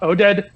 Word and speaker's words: Oded: I like that I like that a lot Oded but here I think that is the way to pronounce it yeah Wow good call we're out